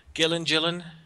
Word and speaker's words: Gillen: haven't read the Kieran Gillen. Is that how you pronounce his name? Gillen. Sounds either one works.